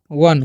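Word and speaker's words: one: अब है ओ एन ई। तो अब इसे हम लोग पढ़ते हैं वन।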